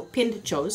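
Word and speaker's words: pintxos: in shows was p int x OS so pinned chose so that anytime you see the exit is pronounced chuck so the deal up there is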